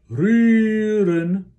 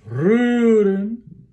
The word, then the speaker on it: rühren: Remember, here's for the umlaut U, we're saying U, and then we're leaving the mouth in that position and then doing E. So, rühren. And the second syllable is marked with a decrescendo. So it's rüren. We don't want to be ren, but rüren, just a schwa syllable.